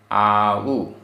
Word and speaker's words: आउ: गाथा क्रमांक 28 उच्चारण आऊ आउ खैण आधा क ख आ उखण आ उखण मरणम मरणम आउ आउ दाम [गला साफ़ करने की आवाज़] दाऊ यहां तीनों जगह छोटा उ है आउ खण मरणम [गला